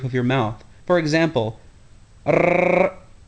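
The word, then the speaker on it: ر: The next letter to be discussed is the letter ra. This letter is pronounced much like the Spanish r. Although this sound is not a common English sound, practice the ra by making a whirling sound as your tongue flaps against the roof of your mouth.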